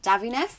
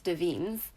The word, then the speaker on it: Davines: so first up from I believe it's pronounced da Venus or no yeah I'm pretty sure it's da Venus I don't think it's davines I think it's da